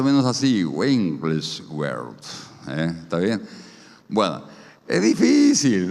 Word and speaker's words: Wigglesworth: Bueno, es un poco difícil el apellido, pero se pronuncia más o menos así, Wigglesworth.